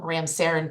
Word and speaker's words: Ramsaran: of the Florida Statutes sir am I pronouncing your name correctly you are your honor yes Ram Saran Ram Saran okay thank you for